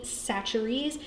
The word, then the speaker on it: Chachere's: This is what we call Tony's, or Tony Chachere's. If you have no idea how to pronounce that, that's how you say it.